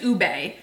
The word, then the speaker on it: ube: I think is actually the right way to say it. I always say it wrong. I believe it's Ube.